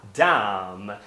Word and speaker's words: dumb: Então você ouve dumb, mas ele não está pronunciando.